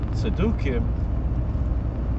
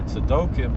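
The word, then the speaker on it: צדוקים: So the paraduma had to be prepared during the day, but the tzedukim, or tzedokim, there are different ways it's pronounced, the Sadducees, who were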